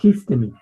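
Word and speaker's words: ἵστημι: Espíritu debemos pronunciarlo con J. Histemi, ¿ya?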